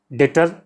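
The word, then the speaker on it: debtor: डेटर, इसको डेटर पढ़ते हैं, डेप्टर नहीं, बी साइलेंट होता है।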